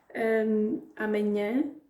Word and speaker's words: amanhã: Amanhã, aqui o foco é no nhã, porque tem um acento no último A.